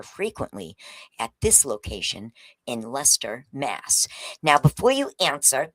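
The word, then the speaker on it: Leicester: says Lchester, but in here in Boston that's Lester, Mass. It's looks like Lchester. It's pronounced Lester.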